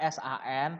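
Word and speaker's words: さん: Tulisannya S-A-N, tapi bacanya san.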